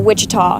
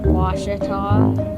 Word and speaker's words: Ouachita: Back in Texas, everybody pronounces it Wichita, but really, it's Ouachita. Ouachita. Ouachita. How would you pronounce it? Ouachita.